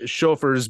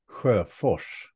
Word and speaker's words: Sjofers: So I said Sjofers because you find that acceptable among us Americans. But how would it be pronounced traditionally? Well, in my native Swedish, it would be pronounced like this, Sjofors. Very different.